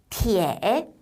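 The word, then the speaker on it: 铁: 발음이요. 티에 라고 하고요.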